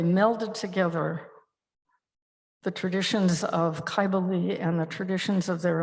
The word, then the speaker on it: Kybele: And I have a statue here of, I'm going to use the Phrygian pronunciation and call her Kybele.